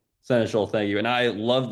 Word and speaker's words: Seneschal: for a while, but I really like the senestial a lot. I think I'm pronouncing that right, but Senator, Senator Schul, thank you.